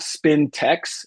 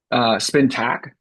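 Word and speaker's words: Spintax: It's not spin text. It's I'll type it in here for you. Spin tack. I think I say it wrong. I'll be real about it. I think I say it wrong, but it's spin tack, and it's basically like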